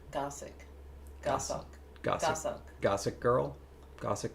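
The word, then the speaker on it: goshawk: Looks like ghost hawk, but it's looks like it's pronounced gossuck. Gossk like it's go o s and then hog. No idea for birds, but it's stressed on the first. Gossic. Gossuck.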